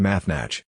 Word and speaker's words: naratra: Naratra, pleasant, pleasurable, is pronounced Mathnach.